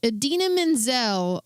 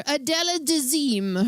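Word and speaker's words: Idina Menzel: Adena Menzel. Uh or as he called her, Adella Dazim. Her name her name is Adena Menzel.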